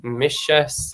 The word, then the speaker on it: mise: So to compare those again, Siobhán, we've got like mise, for example, mise, so there's that SH sound.